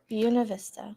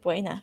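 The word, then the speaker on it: Buena Vista: Bueno Vista. Yep. Buuna Vista. Buuna Vista. You just said Buena. I did say it wrong.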